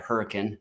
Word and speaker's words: Hurricane: No, Hurricane, Utah. Yeah. We're small town folk here, and so we say it Hurricane. There's the short A and not enough syllables probably, but yeah.